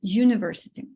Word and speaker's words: university: літеру А на звук слово University починається з голосної літери ю але звук коли ми вимовляємо це слово приголосний й University тому Ми обираємо артикль